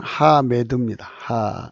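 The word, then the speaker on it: חמד: 하맛. 그래서 붙어서 하맛인데요. 하맛. 실제 발음은 하메드입니다.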